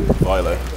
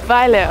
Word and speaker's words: Vejle: How do you pronounce this city again? Vejle. Vejle, okay.